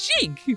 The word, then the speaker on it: Sheik: How do I pronounce Sheik? It's Sheik, but is Sheik she/her because Sheik is really Zelda in disguise?